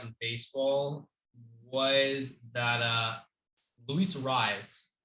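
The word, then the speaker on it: Luis Arráez: baseball was that uh luisa rise i know it's louisa rise because that's how they pronunciated at the stadium when i was at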